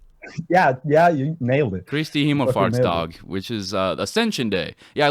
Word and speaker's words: Kristi himmelfartsdag: Kristi Himmelfartsdag, which is Ascension Day.